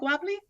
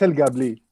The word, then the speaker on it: El Guabli: It's not Guabli? Well, you're on mute. It's El Guabli.